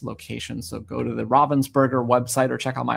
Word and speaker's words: Ravensburger: The first year, it was like there's about 5 different pronunciations. Everyone has kind of learned. And now we all say Ravensburger. It's German.